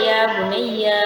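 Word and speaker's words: يَا بُنَيَّ: Jadi cara bacanya aja ya bunayya, ya-nya berarti kan panjang. Ya bunayya.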